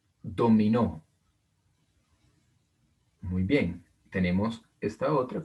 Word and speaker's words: dominó: Acá tengo otra palabra con el acento en la última sílaba, dominó, dominó.